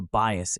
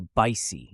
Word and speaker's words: bias: let's start with pronunciation bias can be pronounced in two ways be is with two